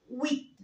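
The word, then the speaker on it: huit: البي هنا نو سو برونونس با، ما بنطقهاش، بس بنطق التي. هقول ست. طيب رقم تمانية ويت ويت.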